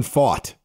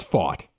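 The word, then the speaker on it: Pfaadt: way as a starter it's Brandon fought I don't know why it's fought it's F okay so he fought it's F there's no o and there's no u in his name but it's fought so it's fought okay oh well you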